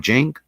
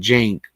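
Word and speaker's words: Cenk: And even Anna, and I believe you pronounce his name Jenk.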